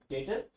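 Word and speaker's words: debtor: डेटर में B silent है, बी नहीं बोलते, डेटर क्रेडिटर।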